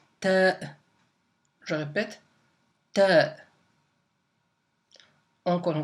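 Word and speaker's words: ت: La lettre Ta, donc j'ai bien dit Ta, ça s'écrit avec 2 points pardon, au-dessus.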